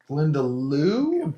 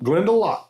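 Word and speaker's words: Glendalough: Glendeloo. That's how I was going to Nope. Glendelock. Glendelock. I actually uh actually found an advertisement from them where the master distiller from Glendelock said it out loud and I was like,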